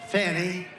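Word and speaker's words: Fani: another you had fonnie f a n i which is usually pronounced Fanny she added a little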